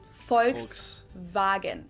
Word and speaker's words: Volkswagen: by the full name it would be pronounced Volkswagen and not Volkswagen so just imagine that it was spelled with an f and V instead folks wagen this literally means people's